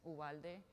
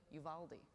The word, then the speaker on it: Uvalde: they say their names uwalde yuvaldi uh both work sometimes the locals don't aren't quite sure too you know but when you phonetically put it on a piece of paper it does look like yuvalde you like you but